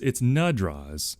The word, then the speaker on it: Nadraz: Well, so it's Nadraz with an A in the first syllable.